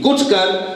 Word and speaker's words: گٹھ کر: کر اور گٹھ کر، یہ لفظ اس کے اوپر بے شک پیش نہیں ہے لیکن اس کا تلفظ یہی ہے، گٹھ کر اسے اس تاثیر کے